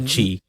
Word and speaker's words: Qi: So, Jason, as you're doing the rundown on the doc, I was cursing you because I can never pronounce QI wireless chart Qi.